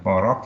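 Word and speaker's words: порок: In the word porok here, for meaning threshold, the phoneme is k, but in the word porok meaning vice, the phoneme is k, but they are pronounced the same in the final position.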